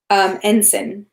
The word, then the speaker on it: ensign: things are you know ensign yes I knew I was saying it wrong and every time I said it it didn't sound right in my head thanks mom my English tutor here ensign but everything going on